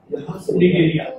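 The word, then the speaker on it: Cnidaria: यहाँ निगेरिया, सी साइलेंट ऐसा रहता है।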